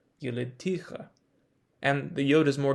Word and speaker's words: יְלִדְתִּיךָ: what we would expect if the word was pronounced yelidticha. And the yod is more difficult to explain if the word were pronounced yaldutecha.